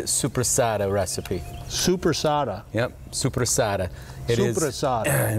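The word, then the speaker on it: soppressata: Supersada. That's the correct Italian pronunciation.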